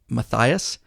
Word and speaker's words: Matthias: to thank and I believe it's Matthias m-a-t-t-h-i-a-s yes Matthias okay I think I said it right Mathias from Hampton